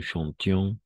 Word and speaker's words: chantions: Nous chantions, en este caso sí vamos a pronunciar IONS, nous chantions, vous chantiez, et il ou elle chantait, n'est-ce pas?